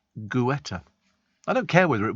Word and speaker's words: Guetta: Well, it's G-U, so it's Guetta. Pronounced Guetta.